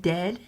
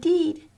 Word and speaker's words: dead: And dead, it's said, like bed, not bread. For goodness sake, don't call it deed.